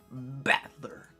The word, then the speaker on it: Battler: It's made up from characters for fight and person. It's pronounced battler.